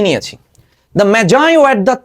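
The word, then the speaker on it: Magi: দ্য ম্যাজাই, ম্যাজাই, অনেকে ম্যাগি উচ্চারণ করে, ম্যাজাই।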